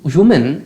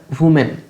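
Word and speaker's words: women: এই শব্দটার বারবার তোমাদের উচ্চারণ বলি, এটা উচ্চারণ ওম্যান করবেন না, এটা উইমেন, বা আরো ভালো উচ্চারণ করতে গেলে উইমিন, কিন্তু অনেকেই উইমিন বলতে গেলে ওটাকে বিকৃত করে দাও, ওই জন্য আমি সহজে বলি না।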